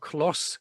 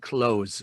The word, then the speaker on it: close: 그래서 형용사에는 발음이 형용사 부사는 발음이 S 발음이 난다는 거. close, closely. 동사는 close 이렇게 되는 거죠.